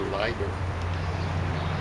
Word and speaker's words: Leiber: name of this uh german pronunciation is a lighter yeah okay so i